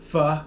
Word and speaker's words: pho: I looked up how to pronounce it, and it literally said pho like duh.